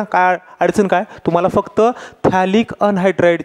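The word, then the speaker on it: phthalic: अडचण काय तुम्हाला फक्त थॅलिक अनहायड्राइड ची गाणी आणि स्ट्रक्चर काढता आलं पाहिजे हे बनवतात कसं ते पण सांगेन मी तुम्हाला थॅलिकची स्पेलिंग पीएच पासून असते पी सायलेंट असतं है ना लक्षात आलं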